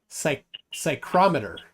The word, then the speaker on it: psychrometer: Now David Brock says, all right, David Brock says, how do you say psychrometer? PSYCHROMETER. Psychrometer. I had to think for a second. So yeah, you don't pronounce the fee.